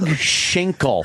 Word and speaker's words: Schinkel: guy is a bleak shingle correction Schinkel friend shake no it's spelt s CH i NK l yo up shingle